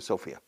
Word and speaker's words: Sofia: go to Sofia, or Sofia in Bulgaria, se pronuncia Sofia, and then I'll go to Belgrade, Serbia, and